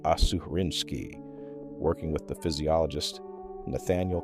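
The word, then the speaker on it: Aserinsky: A graduate student named Eugene Asarinski, pronounced Assuarinski, working with the physiologist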